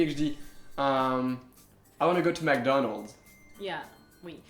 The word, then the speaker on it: McDonald's: c'est une marque encore une fois et on prononc ça on dit McDonald McDonald ou McDo mais c'est quand même différent